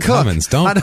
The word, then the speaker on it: Cummins: That's a Dan Cook. Or Dan Cook? It's Dan Cummins.